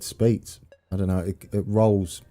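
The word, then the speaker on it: Spiez: Speets. Thank you, Rubber Ducky. Is that how it's pronounced? Speets. I think I was saying it like that for a while, and then I stopped. Spees. We would say Spees in Germany. No spy. Speets. I got it.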